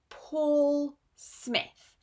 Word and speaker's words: Paul Smith: And this is Paul Smith. Not Paul, Paul. It's a long or sound.